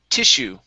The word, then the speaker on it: tissue: Here, this word is pronounced tissue. Okay, stress is at the very beginning, and the double S is an SH sound.